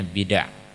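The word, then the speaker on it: بدع: Jadi bacanya bid'ah. Bukan disukun dalnya, tapi di fathah.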